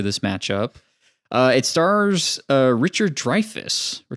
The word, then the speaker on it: Dreyfuss: It stars Richard Dreyfuss. Or Dreyfuss? How do you guys pronounce it? It's like Dreyfuss.